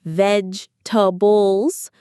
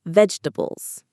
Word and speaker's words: vegetables: Some learners say every letter, like vegetables, but native speakers usually say faster, like vegetables.